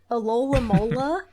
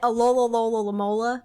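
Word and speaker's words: Alomomola: I always say it wrong, but I think it's from Gen 5, Alola Mola, I think is the proper way to say it, but I say it Alola Lola Mola, like I just say it for as long as I can.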